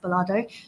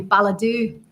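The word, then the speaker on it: Balado: You've got Ballardo in Scotland, which, by the way, is pronounced Ballardo, because I was thinking it was going to be Balladoo, because I was thinking it's got to be Scottish, right?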